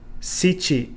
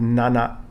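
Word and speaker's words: 七: For example, number 4, shi instead of yon. Sichi for number 7 instead of nana. And kyu for number 9 instead of ku.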